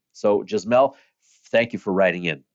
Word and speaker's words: Jasmel: Jasmel. And it's spelled Yasmel. How do I know that it's not Yasmel but Jasmel? Because, well, I had a wonderful student with the same first name.